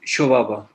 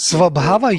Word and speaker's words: Swabhava: which difference is with Shobhava? Shobhava. What is that? You say Shobhava is an essence, isn't it? Oh, Swabhav. Maybe You talk about my Swabhav? pronunciation is Swabhava, you mean Swabhava. Swabhava. Shobhava, right?